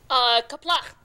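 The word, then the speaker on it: Qapla': Kaplach. Kaplach, everyone. Kaplach. Yeah, gotta work on your pronunciation there, and don't be afraid to spit. If you're spitting, you're doing it right.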